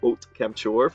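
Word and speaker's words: Haute Camp-ture: if it's really that popular, but 18th is Ot Kemptchor from Total Drama Island, and yes, I did look up how to pronounce that because it's a French word, and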